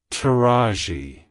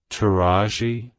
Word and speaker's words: Taraji: hope it's pronounced as teraji teraji teraji to pronounce it correctly emphasize the second syllable r ah and lightly